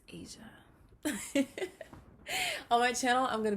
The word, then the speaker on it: Asya: channel my name is asia it is pronounced like the continent but it's spelled with a y so a-s-y-a it's not a saya it's not a sia it's not asia it's asia on my channel i'm